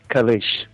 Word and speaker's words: Kalisz: It's pronounced Kalisz. I know that because of one of the people I work with, her last name is the same, and that's how she said it's pronounced.